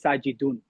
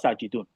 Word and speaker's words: Sajid: That's why I said at the beginning of the class, like, I don't say my name is Sajidun. My name is not Sajidun, right? My name is Sajid. We don't pronounce the last i'rab.